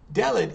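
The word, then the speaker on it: דלת: Delet, it's spelled just like dalet, D-L-T, but instead of the ah sound, which we have in dalet, it's going to be the sound, so delet, and delet means door.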